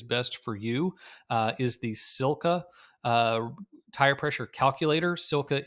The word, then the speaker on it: SILCA: A great resource to find out exactly what is best for you is the Silka uh, tire pressure calculator. Silka is a manufacturer of bike accessories. It's spelled SILCA.